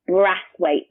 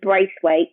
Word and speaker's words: Brathwaite: hi um at brass weight now so much confusion so it's not brace weight there's no I in the first syllable so just b r a t h w a i t e at candy spright on Instagram and ww.